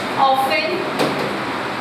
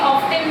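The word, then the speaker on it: often: Never, है ना, never, ऑफन, ये ऑफ्टन नहीं होता है, ध्यान रखिएगा, टीज में हमेशा साइलेंट होता है, ठीक है।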